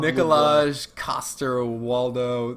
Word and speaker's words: Nikolaj Coster-Waldau: Yeah, Nikolai, blah, blah, blah, Nikolaj Coster-Waldau is how a dumb American from Georgia and Alabama would pronounce it, like me.